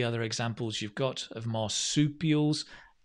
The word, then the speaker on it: marsupial: examples you've got of marsupials not an easy word to say right try and say it with me marsupial a bit like chicken soup soup peel marsupial any other examples of